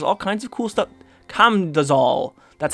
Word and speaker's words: Camdozaal: the dungeon there's all kinds of cool stuff com does all that's how you say it i promise i